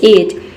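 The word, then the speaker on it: edge: एक वर्ड होता है एज ई डी डी ई एज का मतलब होता है किनारा ठीक है इसमें जो डी लेटर है ये साइलेंट रहता है डी लेटर मैंने आपको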